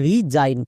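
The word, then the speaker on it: resign: এই ওয়ার্ডটার উচ্চারণ হবে রিজাইন কেন কারণ একদম শেষে আই জি এন আছে আমরা জানি ওয়ার্ড প্যাটার্ন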